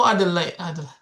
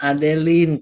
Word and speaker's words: Adeline: Oh, Adelaide. Kayak Adeline. Oke, oke. Maaf ya, salah penyebutan. Adeline. Nah, saya dimarahin ini. Adeline ya. Dibacanya Adeline, Kak. Oke, Adeline.